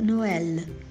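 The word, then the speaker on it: Noël: qual Noel significa Natal já no francês é pronunciado no ela a vida de Nicolau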